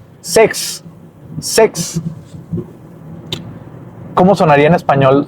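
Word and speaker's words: sechs: Sex. Sex. ¿Cómo sonaría en español? Sex. Sex. No, suenan casi igual. Sex es 6. Sex. Y se pronuncia como sex.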